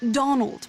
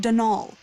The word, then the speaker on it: Donal: that was the caretaker denal Delany not Donald mind you there's no D at the end so it's pronounced denal that's the way you're